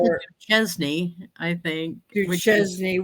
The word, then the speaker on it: Duchesne: your jacket, your uniform, this man went, Sergeant Duck Knees.